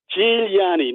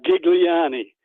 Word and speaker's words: Giuliani: Giuliani, not Gigliani. Okay. Well, how does he pronounce it?